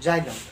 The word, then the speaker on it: xylem: जाइलम का English spelling XYLEM, जाइलम, जबकि यहाँ पर फ्लोएम।